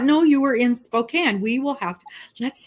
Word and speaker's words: Spokane: tribe they were the Spokan Indians and the proper pronunciation is Spokan and we will tell you in no uncertain terms that you have said it wrong and never heard it